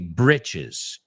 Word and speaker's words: britches: But in American English, we say britches. Pero es CH y el otro es J. So bridges and britches.